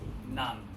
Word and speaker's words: ng: The ng right here. It's pronounced nang.